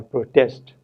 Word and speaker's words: protest: both the words here, it is the first syllable which is stressed if the word is noun as an increase, and the second syllable is stressed if the word is a verb such as increase or protest.